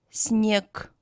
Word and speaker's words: снег: For example, G is pronounced as K in following words: друг, снег. Ж is pronounced as Sh, муж, еж.